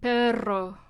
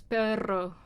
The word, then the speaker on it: perro: So let's say in Spanish it's the pero and perro. Those are 2 R sounds, but one sounds totally different from the other. And it's 2 different words, so it's either pero or it's perro.